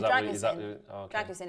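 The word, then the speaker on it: Drăgușin: Have you worked out how to pronounce it now? Yeah, Dragusin.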